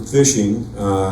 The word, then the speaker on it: phishing: The term phishing is spelled with a PH, but it's much like when you go fishing.